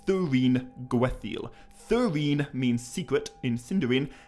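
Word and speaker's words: Thuringwethil: she is tolkien's only named vampire thuringuethil and thuringoathil is not an easy name to pronounce correctly but i feel confident that what i just said there was right it's definitely not thuring wethel it's thurine gwetheil thyrene means secret in cinderine and gwath means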